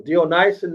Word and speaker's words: Dionysian: So if we have a researcher in the house, they can do some research on the Ellucian and how do you pronounce this? Oh, Dionysian mysteries, the Ellucian mysteries and the Dionysian mysteries.